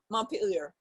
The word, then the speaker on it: Montpelier: the capitol how do you say it again montpelier montpelier yeah uh and uh and you say